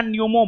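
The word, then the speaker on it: pneumo: Human Meta न्यूमो virus. समझ गए? Human Meta न्यूमो virus. हां हां हां हां ठीक हो नहीं जी यहां पर जो है ना नहीं सुनिए पी साइलेंट है ह्यूमन मेटा न्यूमो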